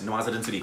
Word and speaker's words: Nawazuddin Siddiqui: How do you pronounce it? Nawazuddin Siddiqui? Yes, Nawazuddin Siddiqui.